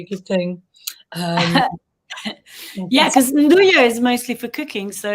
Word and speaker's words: Nduja: And Lucas mentioned Nduja. Oh, now, Nduja. He has made some Nduja. Is that how you pronounce it?